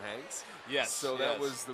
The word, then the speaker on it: Hanks: guy some uh Hanks honks yeah yeah in France it's honks but uh yeah here it's uh it's pronounced honks for those who know but the Americans have made it Tom Hanks yes so that was